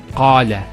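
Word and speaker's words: قال: First one here is qala. Notice the elongation of the A sound. Qala, not qala, qala.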